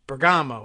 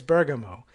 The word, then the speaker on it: Bergamo: I knew a family it was their last name, and it was Bergamo is how we always said it. But apparently it's Bergamo.